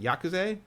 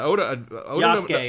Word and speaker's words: Yasuke: In fact, Oda Nobunaga, who what's his name, Yakuze? Yeah. He worked for Oda. Yasuke is how you say his name.